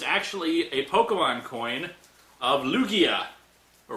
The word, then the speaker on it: Lugia: a Pokemon coin of Lugia. Or Lugia. I keep forgetting how they pronounce that. I'd hope Lugia, because Lugia sounds too much like Loogie.